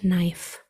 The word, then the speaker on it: knife: sounds are in pocket knife you have the five sounds in pocket and then there are three sounds in knife n which is represented by the k n that's a silent letter pair I and F F